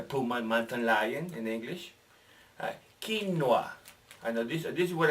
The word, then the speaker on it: quinoa: change the pronunciation of quinoa. No, it's not Spanish. No, it's not English. So pronounce it like they do.